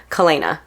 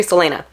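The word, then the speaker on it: Celaena: head my stupid head I pronounce her name kalena so I I said that name throughout like the whole book series when I was reading it and it's actually Selena anyways this is Selena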